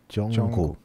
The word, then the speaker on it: Jungkook: so it's in the middle so it will pronounce Jungkook yeah because it sounds like okay cook yeah